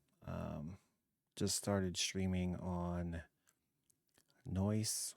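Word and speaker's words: Noice: Um just started streaming on Noise, which I'm assuming is how you say it. Um it is N O I C.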